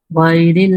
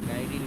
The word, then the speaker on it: غير: দলিন ولا الضالين হ্যাঁ তারপরে গাইরিল বলা যাবে না বলতে হবে গায়রিল মাগদুবি غير المغضوب মাগদুবি